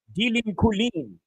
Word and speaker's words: Dylan Colin: Dylan Colin. That's how you pronounce it in French. Dylan Colin.